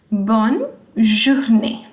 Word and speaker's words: bonne journée: Wherever you see this accent, it's called accent aigu, you will give a sound. Bonne journée.